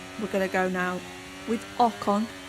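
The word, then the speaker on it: Ocon: and Aston Martin we're gonna go now with okon correctly pronounced there oh just beautiful we're now up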